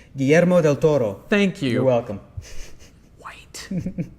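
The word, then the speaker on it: Guillermo del Toro: period because ABC went into pre-production right on gomo Del Toro doing an Incredible Hulk TV show let me help you with that pronunciation GMO Del Toro thank you you're welcome White so white doing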